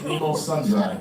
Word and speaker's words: Nemo Sundry: Nemo Sundry. Spell it. N-E-M-O, like the fish. You found me. Last name, sun and dry. Like the drought. Okay. Wow. S-U-N-D-R-Y. Nemo Sundry. Yeah, it's pronounced sundry, and apparently it means nobody miscellaneous.